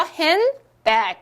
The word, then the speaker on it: handbag: 가운데 거를 탈락시킵시다. 뿅, 잘 가. 이렇게 갔습니다. 그러면 어떻게 하죠? handbag 이렇게 발음을 하실 수 있는 겁니다.